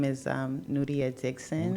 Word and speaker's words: Nuria: guess Nia okay hi my name is um nudia Dixon n nudia well you can say Nia because it's spelled n u r i a so a